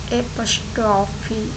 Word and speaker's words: apostrophe: और बहुत सारे लोग इसका प्रोनाउंसिएशन गलत करते हैं और गलत स्पेलिंग भी लिखते और बोलते हैं। तो आप ये कॉमा है उसे एपोस्ट्रोफी बोलते हैं, और मैंने यहाँ पे स्पेलिंग भी आपको दे रखी हूँ, जो कि ये है APOSTROPHE, एपोस्ट्रोफी।